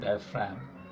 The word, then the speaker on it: diaphragm: dye fram it's collected diaphragm actually when you see diaphragm this g is silent we write diaphragm and